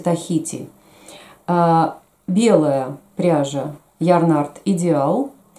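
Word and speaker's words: Tahiti: По-русски мы говорим Таити, по-английски читается Тахити.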